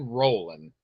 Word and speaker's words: Rollin: His name is spelled like it's Jean Roland, like rolling but with no G at the end.